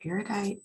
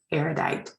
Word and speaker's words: erudite: pronounce this word again is it eredite powder having your strong right now erudite is correct so um it said